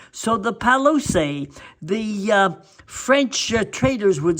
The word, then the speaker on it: Palouse: and they pronounced it Palouse. In English, you don't pronounce the final E on words, but in French, you do. So the Palouse, the French traders would